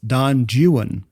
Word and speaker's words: Don Juan: But because of the rhyme, the poem suggests that it's pronounced Juan for the rhyme to work.